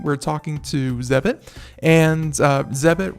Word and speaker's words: Zebit: talking to Zevon and ZEB it rhymes with debit Zeb IT we'll be